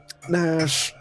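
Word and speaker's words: Nach: Nash. It's not Nash like Nash Bridges. It's Nash like Chan rearranged.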